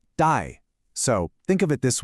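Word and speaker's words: 戴: The pronunciation is dye.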